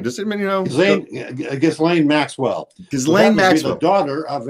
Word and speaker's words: Ghislaine: Oh, Ghislaine, how do you pronounce her name? Does anybody know? Ghislaine Maxwell.